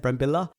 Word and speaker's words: Brambilla: Brambilla, is that how you say it? Brambilla, yeah. Okay, that's enough.